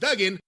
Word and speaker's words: Duggan: It's pronounced Duggan, but we call it Dugan too.